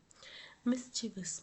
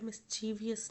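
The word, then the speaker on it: mischievous: spelling बिल्कुल correct है मिसचिवस मिसचिवस मैंने आपको पहले है मिवस होता है मिची वियस नहीं होता जैसे कि हम बोलते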